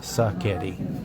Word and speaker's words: Sacchetti: It's not spaghetti, it's Sacchetti.